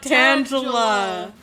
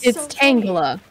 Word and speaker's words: Tangela: things craft things Angela it's not Tangela it's not you're gonna kick your little game why are you saying Angela like it's my name but worst yeah exactly that's why that's how it's always pronounced it apparently it is it is but it's it's it's tangler but that's dumb like